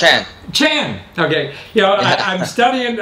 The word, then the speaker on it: Chan: How do you pronounce it? Chan.